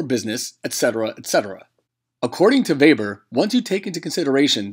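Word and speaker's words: Weber: a German Economist and is for this reason we pronounce it vber he devised his model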